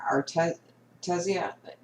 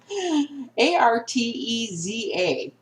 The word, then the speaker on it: Arteza: These are Artesia. Artez? How do you say it? Arteza.